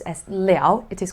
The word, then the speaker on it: 了: with the sentence look just now i said liao when you pronounce as leo it is called because it's right after a